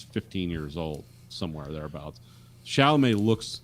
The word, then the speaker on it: Chalamet: I do think Timothy Clement, Clement, I always say his name. I think he's better. Chalamet.